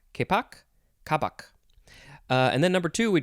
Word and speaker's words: kapok: yields the fiber kapok i'm not sure how to pronounce that word which is spelled k-a-p-o-k k-poc k-poc and then number two